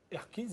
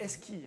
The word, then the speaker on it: Eski: Erkiz et Hirsport. Erkiz et Hirsport. Parfois, c'est pas trop mal quand même. Il n'y a pas de R. Parle pas turc. C'est Eski, c'est pas Erki.